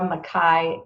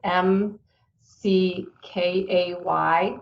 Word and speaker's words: McKay: about you they can go to dr makai m c k a y dot com slash toolkit have i said that